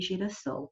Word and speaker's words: girassol: ó, oi, aí, ó, se eu colocar só um S, vai ter som de Z. E a palavra não é zol, a palavra é sol. Então, para que mantenha a mesma pronúncia, aqui eu precisei acrescentar um S.